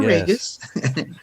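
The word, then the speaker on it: Raguse: and memory uh and he says it's like two first names Ray and Gus so in fact you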